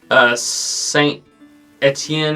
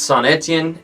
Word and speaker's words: Saint-Étienne: have heard me refer to some place as Saint Etienne or Antien or something like that. I pronounced it weird back in the day. That's Saint-Étienne, and then the other one, you may have heard me pronounce it as Maubeuge.